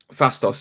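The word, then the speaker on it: Phastos: and who else is left porthos is it pronounced fastos fastos is left yes uh that's correct so yeah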